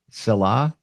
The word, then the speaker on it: Selah: your your practice, your company is called Salah. Am I saying that right? Yes. Salah. Yes. Silah, which means pause.